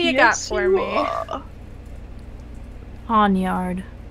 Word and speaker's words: Pawniard: Pawnyard. Say that again, please? Pawnyard? How do you like spell that?